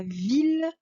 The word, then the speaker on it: ville: fait bien attention à villes villages villes là qu'ils sont pareils ça se prononce comme si on avait un seul l voilà ce qu'on entend